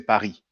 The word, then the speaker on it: Paris: Now, really in French, we don't pronounce the S. We say Paris, but it's fine.